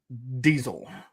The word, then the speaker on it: Diesel: Rudolph Christian Carl Diesel. Or if you want to say it correctly, it'd be Diesel in German.